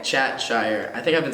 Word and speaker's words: Chat-Shire: Chatshire. Chatshire.